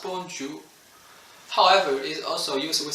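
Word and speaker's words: bonjour: say hello to friends and family and is pronounced bonjou however is also used with strangers is customary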